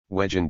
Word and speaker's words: wegen: So Wegen means because of in German, but in Viennese pronunciation also sounds like wagon or cart, wagon.